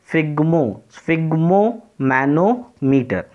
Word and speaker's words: sphygmomanometer: right, to remember this, and you have to pronounce it correctly. It is sphygmomanometer.